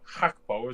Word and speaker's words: Gakpo: And then you got Godi Gakpo, or Hakpo, as it's pronounced.